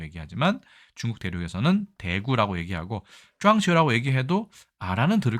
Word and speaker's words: 撞球: 발음은 당구와 조금 다른 쫑치우라고 얘기합니다.